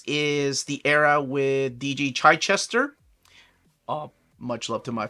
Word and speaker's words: Chichester: me a video of how he pronounces his last name and it he does pronounce it Chai Chester uh but then again